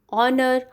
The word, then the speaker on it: honour: Though our, honest chap, honor, all these three words they begin with H, but H is silent in it.